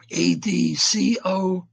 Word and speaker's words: ad coelum: ADCOELUM.